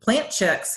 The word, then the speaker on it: Plant Chics: and it's plant chicks but it's spelt PLA and t CH I see people want to add the K and it's not we're plant chic you know plant chicks